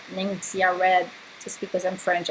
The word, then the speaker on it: Ningxia: It's I think it's a funny name to pronounce. I say Ningxia Red just because I'm French, I guess.